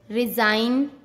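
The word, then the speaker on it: resign: जब एन से पहले जी आता है तब हमेशा जी साइलेंट रहता है। जैसे डिजाइन, रिजाइन, campaign, norm, साइन।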